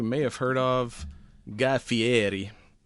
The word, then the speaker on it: Fieri: have heard of, Guy Fieri. Fiatti. I don't know how how you pronounce that. Dinners, drive-ins, and dives. I used to always say uh Ferrari and that that's not right at all.